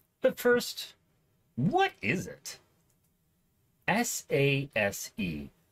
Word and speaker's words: SASE: first what is it s-a-s-e pronounced SASE which means absolutely nothing